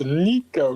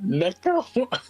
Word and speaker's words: Nico: Why do you always pronounce my name with an E? It's Nico, not Neko. Yeah, it is pretty funny. Because you act like a cat. If there was a K, I'd understand it.